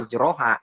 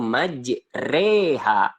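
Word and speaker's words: مَجْرٰىهَا: Jadi teman-teman tidak boleh membacanya majroha, tapi bacanya dengan bacaan miring, yaitu majreha, gitu.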